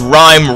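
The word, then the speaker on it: Rime: things is also fun of course rhyme rhymes with mime but this rhyme in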